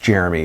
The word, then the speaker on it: Jeromy: This last question is from, I think it's pronounced, well, I know it's pronounced Jeremy, but for people that spell your name like this, Jeromy, like as a kid,